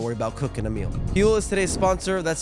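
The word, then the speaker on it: Huel: Fuel is today's sponsor. That's spelled H U E L.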